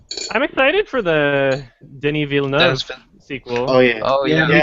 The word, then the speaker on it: Villeneuve: think his pronunciation pronunciation of his name dennis villeneuve yeah i remember that yeah i used to say like villainous i don't know the